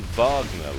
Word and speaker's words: Wagner: was having trouble with the alternative pronunciation of Wagner it's actually Vagner like the musician which is let's fa